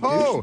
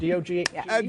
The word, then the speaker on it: DOGE: Douche, D-O-G-E. Jake Tapper. It's Doge.